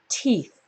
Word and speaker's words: teeth: many teeth okay teeth remember the first T is just a normal T so nice and clean t t and we end with teeth teeth all right I hope you can see that the th sound is the same in all these words these for here at the top and the secret is to get your tongue in between your teeth so make sure to